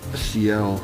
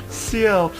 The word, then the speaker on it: Ciel: Alright, how do you pronounce Ciel? It's just Ciel? Ciel.